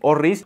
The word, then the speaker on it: orris: bomba de Iris y realmente no se dice Iris se dice orris porque el Iris es